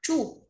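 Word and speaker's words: 住: Đấy, từ này đọc là chu, sống, động từ nhá, sống tại đâu đó.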